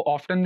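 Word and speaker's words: often: इसको ऑफ्टन भी पढ़ते हैं और इसको ऑफन भी प्रोनाउंस करते हैं।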